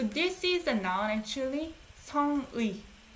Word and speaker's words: 성의: 성의. You pronounce 의, by the way. You don't say 에. 에 is only for possessive. This is not possessive. It's a noun.